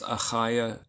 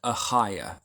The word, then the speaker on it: Achaiah: And those of you that just cannot pronounce Achaiah is fine. You can just soften it, make it like an H sound. Achaiah, okay? Or if you just strengthen the H sound, Achaiah becomes Achaiah.